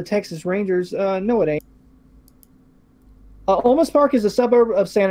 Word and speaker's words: Olmos Park: Now, the correct pronunciation of this town is Olmos Park, Texas, right?